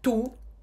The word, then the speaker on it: tout: O U em francês tem som de U. O T final a gente não pronuncia. Mudo. Tu.